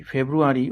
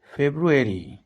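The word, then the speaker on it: February: ফেব্রুয়ারি, এটিকে অনেকেই ফেব্রুয়ারি উচ্চারণ করে থাকেন, এটির সঠিক উচ্চারণ হল ফেব্রুয়ারি।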